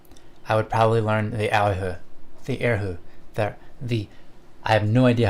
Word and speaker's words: erhu: But if I could play it's pronounced erhu? Okay. If I could play that, I would love it, because that's my favorite string instrument. Okay, Kanasaki, you also say it's pronounced erhu.